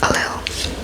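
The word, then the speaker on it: Ailill: I'll check the pronunciation of that. Husband. Husband. Alil. She was a tough ruler and both she and Alil were very competitive.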